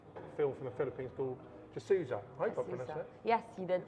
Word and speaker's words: Jesusa: from the Phillipines bull just Souza yes you didn't pronounce as correct it's like basically Jesus what a name yeah